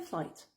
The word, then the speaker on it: flight: Tu ne prononces pas le G et le H. The flight.